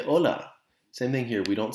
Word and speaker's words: hola: with this word asta the h in spanish is silent that's why we don't say hola we say ola same thing here we